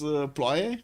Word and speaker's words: ploaie: And the Blazecat Games was trying to pronounce ploaie from Romanian. Yeah, it's with an O though. Ploaie.